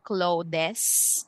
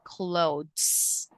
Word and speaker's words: clothes: we say climbers and then we have okay this uh word clothes so this is pronounced with silent e so we don't say clothes but we say clothes okay so it's silent